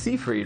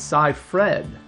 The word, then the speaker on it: Seyfried: You would think that's pronounced Seyfried, right? It's spelled that way, or Seyfried at least, but it's Cy-Fred. No. Weird. I know. She needs to change that name. Well, anyways, Cy-Fred, she got to go to Italy, make a